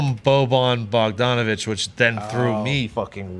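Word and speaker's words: Bogdanović: I said his name wrong. There's so many. He called him Boban Bogdanovich, which then threw me fucking way through a loop.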